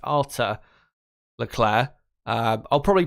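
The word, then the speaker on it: Arthur Leclerc: pronounce his first name I think it's pronounced Arthur Leclair uh I'll probably pronounce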